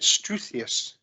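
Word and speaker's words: struthious: on Twitter, which was, I think you pronounce it struthius.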